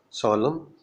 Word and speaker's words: solemn: In MN, N is silent, as in solemn, condemn, damn, hymn means song of praise to God, but N is pronounced in solemnity, damnation, condemnation.